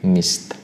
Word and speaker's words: missed: Lalu demikian pula dengan miss, karena miss adalah berakhiran dengan s, maka kita bacanya untuk bentuk past simple-nya adalah missed ya.